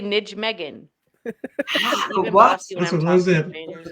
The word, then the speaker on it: Nijmegen: Nijmegen. Nijmegen March.